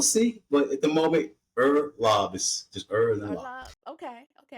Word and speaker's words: Uhrlaub: back for we'll see but at the moment ER lob is just ER okay okay I didn't want